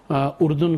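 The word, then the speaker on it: ירדן: لیکن یہ ہم نے جیسے پہلے کہا کہ یہ کا تلفظ اس کے جیسے ہم لوگ اردن کہتے ہیں، یہ یردن ہے اصل میں، جارڈن انگلش میں لکھتے ہیں.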